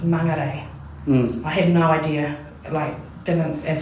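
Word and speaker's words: Māngere: know how to pronounce Mangere. I had no idea, and so I had to go everyone was pronouncing it Mangere. Yeah, so they're getting it wrong still, but they're making fun of you for getting it wrong.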